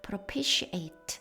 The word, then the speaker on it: propitiate: propitiate, 바로 t가 t로 발음 나는 것이 아니라 sh 발음이 났습니다. propitiate 하면 진정시키다, 화해시키다.